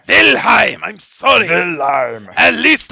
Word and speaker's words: Wilhelm: Although Reinhardt's name, you disappoint me, Cabo. It's pronounced Wilhelm. Wilhelm, I'm sorry.